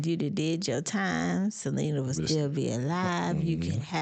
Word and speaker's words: Selena: It is Selena.